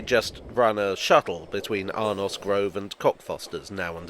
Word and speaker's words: Arnos: as I see it there's no apostrophe or e at the end so it's arnos and in the event